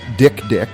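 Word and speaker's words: dik: apparently there's an animal called the Dick, which is spelled D-I-K, and it's this tiny antelope sort of creature, and it marks its territory by crying, and it looks really sad.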